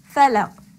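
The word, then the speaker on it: فلق: Now that I know that I should be pronouncing the qaf with qalqala when it carries Bismillah, I will recite Qul a'udhu bi rabbil falaq. Falaq. Did you hear the qalqala?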